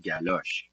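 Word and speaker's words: galoche: It's called the same thing in French, but it it sounds a little bit different. It's still pronounced galos.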